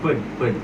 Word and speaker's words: FYOOD: nama bandnya Ped. Tapi tulisannya FYOD, dibacanya mah Pednya bener.